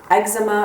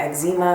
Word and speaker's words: eczema: I've had bouts of eczema or eczema. I know people pronounce it different ways.